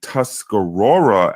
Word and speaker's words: Tuscarora: the Oneida and the Tuscarora as it's pronounced were pretty big Nations